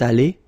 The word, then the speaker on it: allée: Phonetically, it doesn't exist. You don't pronounce it, so you get elle est allée, and then for the masculine form, il est allé.